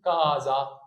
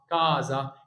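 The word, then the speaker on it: casa: قنا اسمها ميزي هنا ما تقولش كا قول كازا كازا هنا الكلمه دي مهمه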